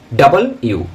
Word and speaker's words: W: ডাব্লিউ বলি আমরা, ডাব্লিউ, এটাকে আমরা কি বলি? ডাব্লিউ, নট ডাব্লিউ, ডাব্লিউ, ডাব্লিউ, ডাবল ইউ, ডাবল ইউ।